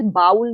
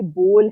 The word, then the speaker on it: bowl: ये BOWL बाउल नहीं है, ये बोल है।